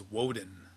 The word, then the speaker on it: Woden: So, and Wednesday, the god that's associated with Wednesday is Odin, and the English pronunciation of Odin is Woden, and that's where we got the term Wednesday from.